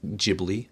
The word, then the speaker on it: Ghibli: we all know studio ghibli um i finally said it correctly i can't believe it you just said ghibli i can't believe it anyway studio ghibli uh h is silent apparently uh actually what did i